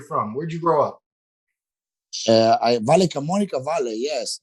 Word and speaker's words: Valle Camonica: You're from somewhere called Valle Carmonica. Is that right? Is that the town? No, Valle. How do you say where you're from? Where'd you grow up? Valle Camonica Valley.